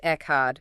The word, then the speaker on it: Echad: Pronounced Echad.